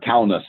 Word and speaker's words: Kaunas: Yes, they have Uber in Lithuania from the airport down to Kanal, which is, or Kaunas, I guess is the way to pronounce, Kaunas is where the conference was.